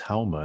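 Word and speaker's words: haoma: In Farsi they don't pronounce the s, they pronounce it like an h, so soma becomes hauma, and that's what Zoroaster took and also had revelation.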